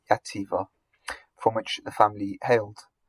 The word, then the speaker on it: Xàtiva: That would have a Spanish pronunciation, so not Jahar, Xàtiva, from which the family hailed.